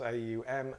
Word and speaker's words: Om: Close the class by chanting Om once. 3 syllables. A-U-M, A-U-M.